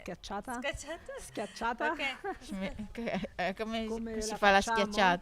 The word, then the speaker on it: schiacciata: And I'd love for her to tell us about the stracciata. How do you say it? schiacciata.